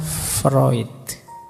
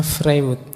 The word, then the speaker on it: Freud: saja eh gagasan psikoanalisisnya Freud ini tulisannya frewood Biasanya kalau mahasiswa baru membacanya masih frewood ndak apa-apa masih murni berarti masih asli belum terpengaruh Barat oke Nah teman-teman mungkin masih